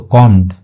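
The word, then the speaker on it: comb: कर दिया कॉम okay कॉम his hair ठीक है बी का जो साउंड होता है वह साइलेंट होता है तो कॉम ठीक है तो जो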